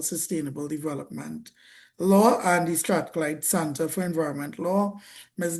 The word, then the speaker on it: Strathclyde: As a result of this, she has embraced roles such as working with the University of Strathclyde. I believe I pronounced that Yes, correct.